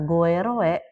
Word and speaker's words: goeroe: Maka kalau ada kata goeroe, dibacanya guru gitu.